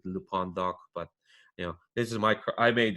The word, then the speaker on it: LPondoc: That's LPONDOC, not LPondoc like the luchador. Sadly, I'm not. So technically, I should be pronouncing it Lupondoc, but this is I made this Twitter account.